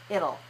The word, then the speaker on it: it'll: move it'll it'll it'll it'll it'll so it rhymes with big and little little so little has an L at the beginning it'll is the same